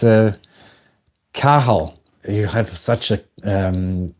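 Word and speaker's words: Cathal: It's a Cahal. You have such a um interesting name. Cahal with the T written with the C A T H A L with the T silent.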